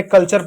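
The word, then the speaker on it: culture: यहां देखिए कल्चर तो कल्चर में टी यू आर ई है तो यहां पे हमने कल्चर पढ़ दिया।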